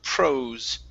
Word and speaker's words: prose: Next up is the word prose. Now, that S here, we want to use a voiced S. This is prose.